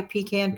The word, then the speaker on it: pecan: of fun with the peon pie pecan peon however way you prefer to say it right I've heard it